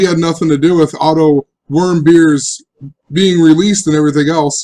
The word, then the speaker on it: Otto Warmbier: article that I read look how they show you to pronounce his name if it'll load up here click OK that I can zoom in what's wrong with it auto worm beer great worm and think